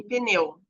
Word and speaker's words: pneu: mantiver seu próprio som como em pneu ó pneu tem um um uma sílaba muda né que é o p uma letra muda ele não vai ter o e junto mas ó pneu tem quatro letras e quatro sons pneu eu consigo pneu